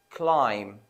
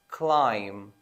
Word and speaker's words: climb: going to be silent the letter B is always silent when it is after m such as in the following words climb climb the B is going